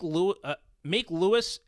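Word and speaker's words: Luis: Now, I do want to say, I'm pretty sure it's pronounced Lewis. That's L-U-I-S, right?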